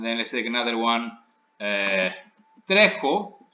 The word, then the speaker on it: τρέχω: Τρέχω, to run, also the stress is on the stem.